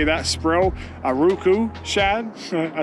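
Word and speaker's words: Aruku Shad: eye did work I will say that spro a Roku Shad I said it right that time it was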